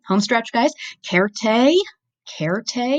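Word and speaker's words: certē: cared a cared a you can hear also that I'm pronouncing my C's like K's that is also a Latin thing cared a means certainly so spell berry much the same but that C sounds like an S in English certainly or surely derivatives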